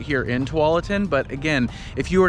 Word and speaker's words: Tualatin: map you know they don't know how to pronounce it it's tualatin just so you know you know for future